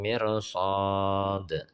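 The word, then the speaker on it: مرصاد: Ra sukun bila menghadapi huruf istila dibaca tebal walau didahului oleh kasroh. Cara membaca atau pengucapan ra sukun diikuti bibir agak maju.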